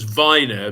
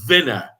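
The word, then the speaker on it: Vyner: Dave refers to him as Viner, because I think from next season we should follow the pronunciation offered by the commentator of Vinner.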